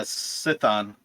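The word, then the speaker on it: Sithon: uh the captain of the uh boat uh sithan i've spelt it as s-i-t-h-o-n okay yeah that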